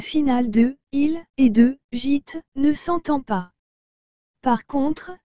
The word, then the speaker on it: gîte: d'écrire au tableau et le mot gîte vous avez aussi remarquer que la lettre j'ai suivi de la lettre il doit se prononcer j ai que la lettre t suivi de la lettre e doit se prononcer te donc toutes ces lettres ensemble donne gîte j'espère que vous vous rappelez